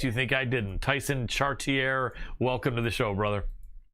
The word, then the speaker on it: Chartier: Tyson Chartier. And I pronounced that the way he requested, just in case you think I didn't. Tyson Chartier, welcome to the show, brother.